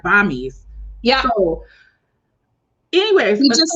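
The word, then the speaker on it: bammies: i discover and i'm saying it wrong it's bombings and they spelled it differently too they spelt it b-a-m-m-i-e-s like bombies yeah anyways we just said this singular oh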